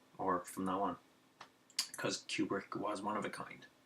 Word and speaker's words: Kubrick: That's much of a genius Stanley Kubrick, that's how you say his name, by the way, Kubrick was.